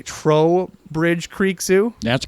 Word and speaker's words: Trowbridge: We have Dusty from Vergas, Minnesota, with, I'm going to pronounce this correctly, Trowbridge Creek Zoo. That's correct. I always want to say Toe, but there's an R in it.